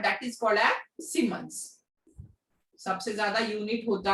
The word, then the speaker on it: Siemens: Third is, अच्छा सीमेंस की spelling SIE MENS, SIEMENS, सीमेंस।